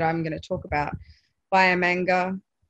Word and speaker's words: Biamanga: Bayamanga, Bayamanga, I think is the right way to say it, and Gulaga.